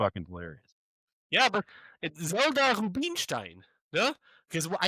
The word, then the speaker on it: Rubenstein: Yeah, but Zelda Rubenstein because I said that's actually because I tried I tried to pronounce it in American English, but in German it would be Rubenstein.